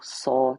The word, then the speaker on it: So: And as you inhale silently, say the syllable saw to yourself, S-O, saw.